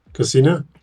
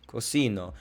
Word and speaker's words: cocino: Casino. Cocino. Remember, it's in the beginning, not the end. If you said cocino, it would be he cooked.